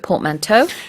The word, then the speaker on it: portmanteau: Let's look at portmanteau. Yeah, portmanteau. Now that's an interesting word. The It is. spelling on that, P-O-R-T, port, that makes sense. Man, M-A-N. Toe, in this case, T-E-A-U. Portmanteau.